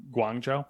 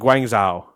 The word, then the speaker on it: Guangzhou: Guangzhou. Guangzhou. Yeah. Okay. In case you're curious, if you want to get more Nate pronunciations on these, Hangzhou, Chengdu, and Guangzhou is how I would.